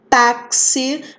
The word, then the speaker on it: táxi: Táxi, né? O som aí do X, o som de KS, né?